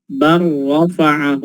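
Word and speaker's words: بل رفعه: Kita lihat di situ ada bal rafa'ahu. Ketika disambung bacanya langsung lamnya masuk ke ra, dibaca bar rafa'ahu Allahu ilaihi.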